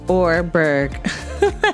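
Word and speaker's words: Oreburgh: let's say welcome to oreberg storyboarders note pronounced or berg like that excited to receive my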